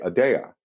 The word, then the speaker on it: Aadya: Detroit um and then I inverted the Y and the a intentionally so that it still looked like Adia but you say adaa so um because if